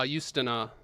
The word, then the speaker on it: Justyna: Uh Justyna. Her name is uh J U S T Y N A. Got you. Okay. Polish pronunciation. She's from Poland.